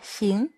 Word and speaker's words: 行: 行行 Từ này có âm đọc là kháng trong yin kháng. Âm Hán Việt là hàng. Và trong bài này là xính. Âm Hán Việt là hành.